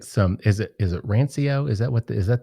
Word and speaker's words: rancio: and i get some is it is it rancio is that what is that the pronunciation it is right yeah yeah yeah you